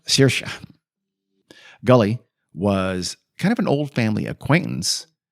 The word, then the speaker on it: Saoirse: Where Sarahazi is pronounced Shorsha or something like that. Saoirse.